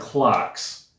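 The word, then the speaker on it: Clox: Track number four is from a German band called Clocks and that is spelled C L O X.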